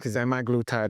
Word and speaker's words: semaglutide: me how to pronounce semi glutide you're pronouncing it correct semi glutide is the word but everybody starting